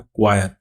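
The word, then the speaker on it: coir: नारियल रेशा को क्या बोला जाता है? क्वायर। देखिए ये इसका स्पेलिंग होता है सी ओय आई आर।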